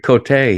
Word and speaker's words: Cote: Greg Cotay, he calls me, which is proper cuz it's the French pronunciation.